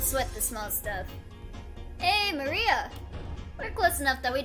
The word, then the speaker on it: Maria: Of course, it's pronounced Maria.